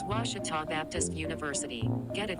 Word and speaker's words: Ouachita: get good grades i've heard people say oh a cheetah oh wish tall oh a cheetah is it pronounced searching for washi at a baptist university back in texas everybody pronounces it wichita but really it's ouachita washington washington how would